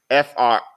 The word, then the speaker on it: France: A is really like an O, y'all, and it's pronounced FROHNCE.